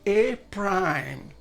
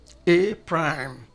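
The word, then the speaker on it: A′: that very set but we pronounce this as a prime a prime this is a prime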